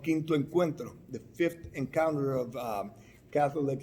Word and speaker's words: Encuentro: that has been developed by USCCB called Quinto Encuentro, the fifth encounter of Catholic Latinos. How do you pronounce it again? Quinto, which is fifth. Yeah. Encuentro. Encuentro, yeah.